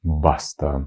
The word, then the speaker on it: basta: Ну і останнє слово баста. Баста сього і досвід на сьогодні. Баста. Наголос на першу букву баста.